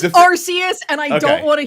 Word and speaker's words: Arceus: are there any other are there any other words that have a hard c followed by an e right because it's like cemetery century it would be arceus right i think so